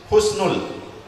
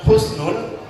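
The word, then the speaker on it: حسن: dalam keadaan khusnul khotimah hati-hati dalam pengucapan Husnul Khotimah ibu-ibu sekalian kalau kita menggunakan hak Sin Nun Husnul asal katanya adalah dalam bahasa Arab kalau kita ucapkan kalau kita bilang Husnul maka kemuliaan tapi kalau kita bilang husnud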